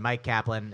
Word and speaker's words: Myq Kaplan: name into places online Mike Kaplan it's spelled my yq k a p l a an put that into I've